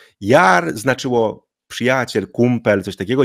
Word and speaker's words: yaar: i tak dalej użyją ale to jest zawsze długie a Jar czy to nie jest Jar tylko Jar prawda Czyli Długa samogłoska Toż co zauważycie to